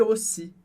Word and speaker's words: aussi: E na palavra aussi, a gente tem o AU, que tem som de O, por isso, et aussi.